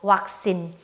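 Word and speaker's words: วัคซีน: 태국어에서 이제 영어의 V 발음을 태국어에서는 전부 다 요 워웬으로 치환을 해서 나타내줘요.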